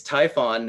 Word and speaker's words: Typhon: like it's it's Typhon and yes that's that's how you say his name the deity Typhen Typhen so I don't know if that counts